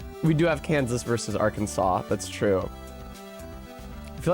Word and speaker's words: Arkansas: I think that Arkansas is probably pronounced like that because of the French, though. Like, if I had to guess, Arkansas pronunciation Y. Um, in 1881, a heated disagreement between the state's two senators, one who said are Kansas and the other who said Arkansas, led to a ruling by the state legislature making the Arkansas pronunciation official.